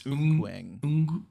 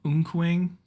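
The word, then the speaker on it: Eunkwang: We got corrected on the pronunciation in our chat, so it's Unkwang. Unkwang.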